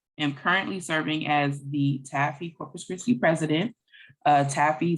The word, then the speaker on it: TABPHE: so that's a-b-p-h-e and that's pronounced taffy uh i am the